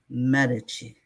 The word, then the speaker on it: Medici: Medici. She's very specific on how the last name is pronounced.